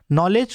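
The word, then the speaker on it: knowledge: जैसे नॉलेज में के साइलेंट होता है, के को नहीं पढ़ेंगे, नॉलेज पढ़ते हैं।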